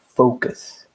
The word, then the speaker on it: focus: It's focus with an O. O sound. Focus. Because many people can mistake the pronunciation, and it sounds like something bad.